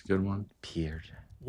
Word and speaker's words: Pierre: I'm gonna go with I'm gonna go with Pierre Jackson from Baylor in 2013. That was one of the guys I had to. It's a good one. Pierre, one of the most electric like just